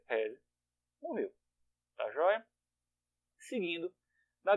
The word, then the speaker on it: RESE: Pronúncia, reze.